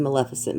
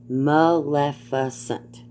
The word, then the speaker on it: Maleficent: maleficent shout out to maleficent by the way but that's how you pronounce her name it's maleficent got it maleficent you say it real fast together these people have no